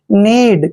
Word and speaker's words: knead: Next देखिए KNEAD, यहाँ पर भी एन से पहले के आया है तो के यहाँ पर हमेशा साइलेंट रहेगा, यानी के का उच्चारण हमने नहीं करना है।